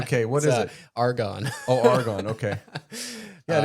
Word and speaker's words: argon: Might not be Aragon. What did I write that wrong? Okay, what is it? Argon.